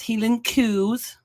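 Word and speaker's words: Highland coos: They're pronounced healing coos.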